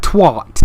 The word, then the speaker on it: twat: I've never understood why Americans say twat. Why they say twat. Why they like add an R in there. Twat. Did you kill that twat? It's twat. You say it like it's spelt, you twat.